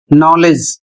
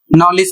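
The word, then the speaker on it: knowledge: सा बता दूं कि भारत में इसको पढ़ते हैं नॉलेज, जबकि इसे सही रूप से, प्रोफेशनल रूप से नॉलेज पढ़ा जाता है। नॉलेज यह अक्सर लोग पढ़ते हैं, लेकिन नॉलेज सही नहीं है। सही उच्चारण होता है नॉलेज।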